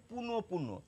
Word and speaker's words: পুনঃপুন: দেখুন আমি এই শব্দটির প্রমিত উচ্চারণ লিখে রেখেছি। পুনঃপ পুন পুনপুন প দুবার আসছে আমাদের উচ্চারণে এবং আমাদের দুবারই করতে হবে।